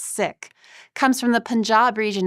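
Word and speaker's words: Sikh: The sick faith, which you have perhaps heard pronounced sik, a way to ease some of the confusion with other words in the English language, but is actually pronounced sik, comes from the Punjab region in India in the late 15th century.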